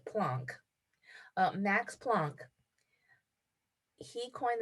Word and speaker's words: Planck: of energy plunk and i've never heard him called plank max plonk and i don't want to argue with professor dave but i'm going to pronounce it plonk uh max plunk he